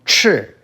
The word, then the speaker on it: 赤: The next sound form is fourth tone, 赤.